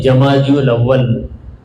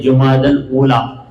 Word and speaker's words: جمادی الاولی: جو چل رہا ہے اسے ہم لوگ کہتے ہیں جمادی الاول، مگر اس کا صحیح تلفظ ہے جمادی الاولی۔ تو جمادی الاولی اس